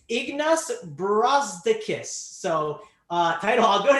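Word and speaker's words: Ignas Brazdeikis: power forward for 3k i looked at the pronunciation it's ignus brazdakis so uh title i'll go to you can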